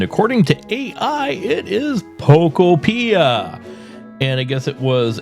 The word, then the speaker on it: Pokopia: the title, because I don't know how to pronounce it. I'm going to look it up. And according to AI, it is Pokopia.